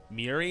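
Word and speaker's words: Muiri: you I don't know how you totally pronounce her name its Miri it's mu IRI Miri it's hard it's hard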